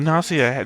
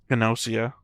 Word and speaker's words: Gnosia: The Nasia just has like a That was a hard G I heard there. Gossia.